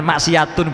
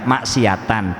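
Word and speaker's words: مَعْصِيَةً: Bukan maksiatun bacanya, maksiatan.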